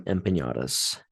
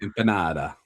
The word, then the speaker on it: empanada: the uh wife in the relationship, the wife in the videos, she pronounced them empatas. And so I just had to I just had to call it out. Empanada.